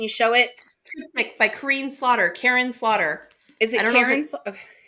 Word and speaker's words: Kristin: The audiobook narrators say Karen, but she says it in YouTube as Kareen, but then I've heard, why would she approve the audiobook to say her name is Karen if she's saying it Kareen? I don't know, and I don't want to upset her. Well, we'll go with the way she says it. If she says Kareen, we will say Kareen.